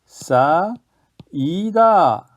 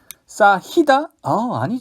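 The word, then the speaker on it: 쌓이다: 네, 싸, 이다. 싸히다? 아니죠. 싸이다로 발음을 하게 됐습니다.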